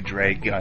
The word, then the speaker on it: dragon: u n like a dragun it's a long a it's pronounced it's it